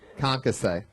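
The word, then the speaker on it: concassé: You could have probably easily have pronounced concasse correctly. Concasse? Yeah, did I say it right? Boom. Concasse.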